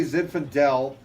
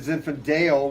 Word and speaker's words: Zinfandel: could just get him to say Zinfandel instead of Zinfandale, we'd be good.